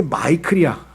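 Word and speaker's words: Michael: 이 미가엘이라고 하는 이름은요, 영어로는 이게 마이클이야. 마이클 잭슨 할 때 마이클. 그죠? 근데 이 마이클이라고 하는 영어 발음이고, 이것이 이제 예를 들면 라틴어로 가면은 미켈이 돼요.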